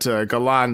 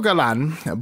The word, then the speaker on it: Galan: But yes, Alfredo is spelled how it sounds, but Galan is Galan.